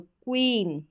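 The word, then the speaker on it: queen: क्व करके पढ़ते हैं क्यू और यू का उच्चारण क्व होता है तो क्वीन क्या है क्वीन फिर देखें एस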